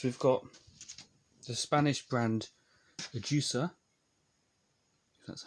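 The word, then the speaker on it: Ajusa: then other options we've got the spanish brand a juicer that's how you pronounce it and they do two types just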